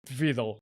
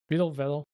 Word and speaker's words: Vedal: When she is like collabing with Filian, with Camilla, with whoever, even with Vidal, if I'm not mistaken. Vedal. Sorry, was mispronouncing Vedal's name.